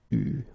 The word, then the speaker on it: eu: Okay, you write it like that, but you pronounce it eu.